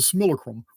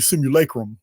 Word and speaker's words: simulacrum: in an artificial construct I call it the similacrum because I'm back woods Texas and I'm not going to pronounce the word right this is how I've pronounced it all my life oh it's actually simulacrum or simulacrum but you're in the similacrum the Texas version now uh this artificial